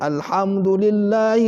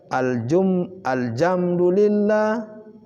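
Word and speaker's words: الحمد: Contoh, alhamdulillahi rabbil alamin. Dia membaca aljamdulillah. Jadi alhamdu dibaca alhamdulillah. Karena pengaruh logat, maka dia tidak memperhatikan. Iyyaka na'budu wa iyyaka nasta'in.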